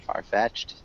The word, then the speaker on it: far-fetched: And with far-fetched, we want to emphasize the first syllable as well. So, far-fetched. Farfetched. Maybe it's kind of like both are emphasized. So, it's almost sounds like two words.